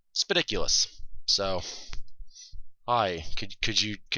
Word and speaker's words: Spidicules: People thought Spidicles for a while, but Spidiculous.